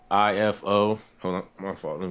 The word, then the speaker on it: Ifo: yeah okay can you pronoun your name and spell it for our bed spellers back here EO pray ALU ifo hold on my fault let me turn this